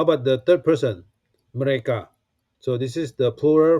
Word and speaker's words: mereka: Okay, example, mereka. Okay, mereka. So the stroke is on ka.